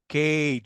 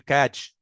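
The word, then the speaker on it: cage: انا عندي هنا كلمه باج، لكن هنا ها كيج، ما ينفعش اقول كاج.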